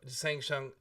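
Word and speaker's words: Shang Tsung: say it right now Shang sang shung there we go sang shung that was not a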